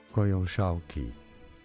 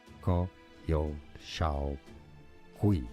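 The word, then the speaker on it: Coyolxauhqui: Otherwise known as the moon goddess Koyoshaoki. Koyoshaokui, sorry. So it's Koyo Shaokui, if I got this right one.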